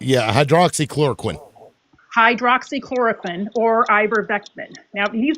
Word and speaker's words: hydroxychloroquine: And then my second point is how come Trump did not take ivermectin or how do you pronounce that? Hydrochloroquine? Hydroxychloroquine.